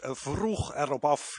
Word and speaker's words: Vroeg Erop Af: The pronunciation is vroeg erop af in Dutch.